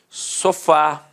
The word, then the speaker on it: sofá: acento exemplos aqui ó sofá repare que a sílaba tônica é a última e é terminada de fato em a café repare que a